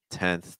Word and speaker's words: tenth: Tenth, tenth, tenth.